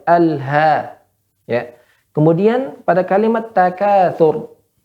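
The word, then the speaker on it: التكاثر: Kemudian pada kalimat takatsur, ya ro di sini hukumnya apa Bu Popi? Tebal atau tipis? Tebal. Ya, tebal ya. Tadi membacanya nanggung ya. Takatsur, sur, ya.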